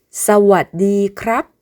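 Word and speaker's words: สวัสดีครับ: 남성은 물어보는 말, 대답하는 말 등을 구분하지 않고 크랍이라고 하는데 여성의 경우에 물어볼 때는 카 하고 음을 올려주고 대답하는 말, 설명하는 말 등에서는 카라고 음을 내려줍니다.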